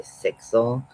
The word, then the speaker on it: Sixell: Mosaic pattern is by sixell um sex uh like spelled like the number and then El so uh it's like pixel with an S instead of the P um and uh she